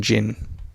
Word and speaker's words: Jinn: So we have a Ginny Windseeker, because the D is silent in Jinn.